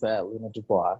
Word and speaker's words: Luna Dubois: Did I pronounce it right? Yes, that was Luna Dubois.